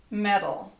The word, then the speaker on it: metal: two different words but in American English this t is the same sound as this D so these words are pronounced the same way metal metal they're sounding they sound exactly the same now sometimes if